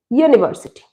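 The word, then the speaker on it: university: you later দিয়ে started কিন্তু এটার প্রোনাউন্সিয়েশন ইয় ইউনিভার্সিটি ইউনিভার্সিটি is consonant sound তোমরা যারা আমার প্রোনাউন্সিয়েশনের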